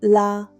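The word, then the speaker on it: là: It's just one syllable. La, falling tone. Say it like you're gently placing something down.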